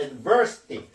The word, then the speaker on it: adversity: 여기에 강세가 있습니다. adversity. 항상 ITY 앞에서 그 전미사가 붙으면요, 그 아음절에 그 강세가 있습니다. adversity라고 발음합니다.